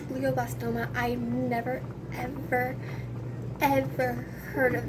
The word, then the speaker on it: glioblastoma: four stage four glioblastoma that is how that is what it's pronounced is pronounced glioblastoma I never ever heard